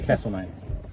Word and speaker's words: Castlemaine: Here we are in Castlemaine. Or is it Castlemaine? Oh my gosh. Castlemaine. There's a couple of ways of saying it, isn't the there? locals say Castlemaine.